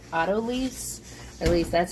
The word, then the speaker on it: autolyse: minutes is going to do a process called autolyse, At least that's how I Now, pronounce how it.